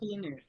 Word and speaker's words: Penix: Michael Penix. That's how his name's pronounced.